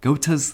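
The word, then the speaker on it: Goethe: that we got gota gota's three questions not ghost not goth i remember i figured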